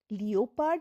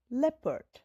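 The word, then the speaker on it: leopard: লিওপার্ড কিন্তু নয়। লেপার্ড। এখানে দেখো ই এর পাশে ও তাই ও হল সাইলেন্ট।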